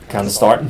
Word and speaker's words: candesartan: Candesartan. Thank you for pronouncing that for me, Gerry.